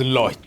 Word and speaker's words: Loch: And I realize I pronounced your second name wrongly. It's not Loch. It is Loch.